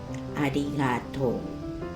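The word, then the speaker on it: ありがとう: Arigatou. Arigatou. You don't pronounce oo, that last sound, oo, strong. That oo is very small, a very low sound. Arigatou. Arigatou. That's the way you pronounce this word. Arigatou.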